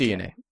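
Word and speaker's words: DeNA: Um, they partnered with a company called DNA. DNA studios. Yeah. But it's pronounced DNA.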